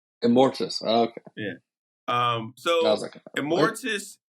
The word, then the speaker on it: Immortus: No, not Morbius. Immortus.